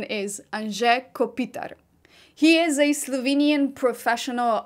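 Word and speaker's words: Anže Kopitar: name that Americans do not know how to pronounce usually they say an kopito or Anto one of the many variations of his name but the Slovenian pronunciation is an Kopitar he is a Slovenian professional ice hockey player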